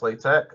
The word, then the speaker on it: LaTeX: The next thing we want to look at is LaTeX, pronounced LaTeX, which is a document preparation system for high quality typesetting.